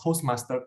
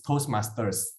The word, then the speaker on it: Toastmasters: And I heard a few times of Toastmaster Club. It's Toastmasters.